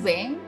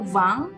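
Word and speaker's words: vingt: yang lafalkan 20 dengan Weng itu benar ya kalau ada yang melafalkan 20 dengan Bang itu juga benar jadi keduanya benar ya ya ketika Nanti kalian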